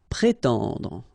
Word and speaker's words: prétendre: Prétendre, okay? So first accent aigu, pré, and then tendre.